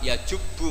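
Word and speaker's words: يجبّ: Terus Nabi ngendikan al-Islamu yajubbu ma qablah. Itu bacanya bukan yajibu tapi apa? Yajubbu ayaktau. Nah kalau pas ini kamu baca yajibu kan, al-Islamu Islam yajibu, pusing kamu.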